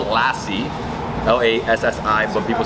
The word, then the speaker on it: lassi: So it's spelled Lassi. L-A-S-S-I, but people say Lassi.